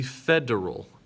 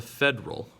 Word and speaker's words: federal: level called it is the federal government not the federal we have to we do have to make sure that we have that e sound in there the federal government also